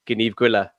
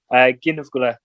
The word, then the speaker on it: Gneeveguilla: to her, but I said, I think I pronounced it wrong. And she said, Gneeveguilla. And I was like, okay, I definitely pronounced it wrong anyway. How did you say it again? Gneeveguilla.